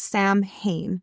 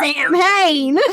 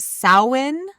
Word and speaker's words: Samhain: According to Hilary Smith, writing for the World History Encyclopedia, Samhain, it's spelled Samhain, which people who don't know would usually pronounce Samhain, right?